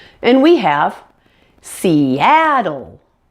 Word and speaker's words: Seattle: on the app and that dark L at the end and we have seattle seattle that's all there is